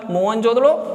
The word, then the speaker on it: मोहनजोदड़ो: आप चाहे तो इसे नोट कर लीजिए कि मोहनजोदड़ो का सही उच्चारण होता है मोहनजोदड़ो, और इस मोहनजोदड़ो का सिंधी भाषा में अर्थ होता है मृतकों का टीला।